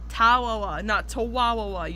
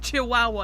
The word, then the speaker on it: Chihuahua: wrong he pronounces it with four syllables when there's three I don't know this is a nitpick for me it's not tawawa you make it sound like you're saying Chihuahua you nincompoopa